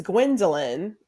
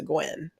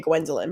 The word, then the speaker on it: Gwendolyn: gwindel R Houston Jack I go by because it makes it easy I know it's three syllables I love my name but if three syllables is too much get out is fine I do not answer to Gwen right like it's just